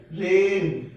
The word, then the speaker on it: reign: REIGN रेन। RESIGN रिजाइन, इसमें जी silent रहेगा।